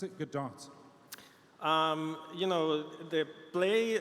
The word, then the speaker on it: Godot: pronounces however they want now the the game engine was founded in Argentina and the founder it pronounces it Godot a lot of people from the you know native English speakers use gaurav or any other kind of pronunciation but it's however you feel like it thank you for